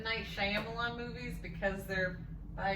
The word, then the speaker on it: Shyamalan: pronounced? It's Shyamalan.